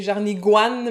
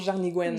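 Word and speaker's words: jarnigoine: En fait, c'est jarnigouane, mais on prononce jarnigouenne.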